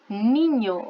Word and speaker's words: Niño: do fenômeno climático El Niño, Ninho, ou então, né, o outro fenômeno climático, La Niña. Ninho, ninha, menino e menina se escrevem com a letra N, que tem som de NH, ok?